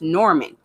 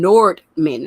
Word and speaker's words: Norman: mean north for example my last name before i got married is norman and i i would run into some people like who would pronounce my name nord men i'm like what in